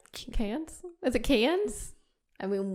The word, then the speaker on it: Cannes: Cannes? Is it Cannes? I mean, we as Americans say can.